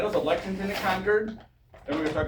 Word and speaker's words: Concord: And Massachusetts people will chew you out if you pronounce it Concord because like if you go to Stanton, Virginia, and you pronounce it Stuntton, it's s au.